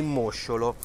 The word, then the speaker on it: mosciolo: ragusa le innovazioni di mosciolo mollusco presidio slow food attenzione l'accento sulla prima o e caratteristica della regione